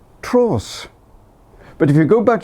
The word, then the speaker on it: Treoes: saw the place name my first inclination was to pronounce it Tre o but then the locals pronounce it Tross but if you go